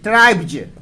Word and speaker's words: tribes: ट्राइब्ज, ट्राइब्ज एक ले लीजिए, ट्राइब्ज, TRI, ठीक है। ट्राइब्ज का स्पेलिंग होता है, ट्राइब्स होता है, जो ट्राइब्स